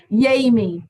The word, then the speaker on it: Yami: Yami, like Jamie.